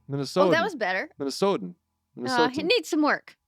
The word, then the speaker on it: Minnesotan: pronounce the T? Do you Yeah. like enunciate the T's? So No, it's softer. it's soft. Soft. It's soft T.